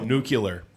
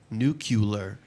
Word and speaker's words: nuclear: some people are just cannot pronounce the word nuclear correctly and I feel like we how do people say nuclear oh nuclear nucular yeah I uh what